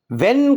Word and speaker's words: when: معنی ہیں وین کے۔ وین میں ایچ سائلنٹ ہے، تو وین سمجھتے ہوئے